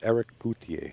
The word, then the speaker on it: Eric Cloutier: His name is pronounced Eric Cloutier.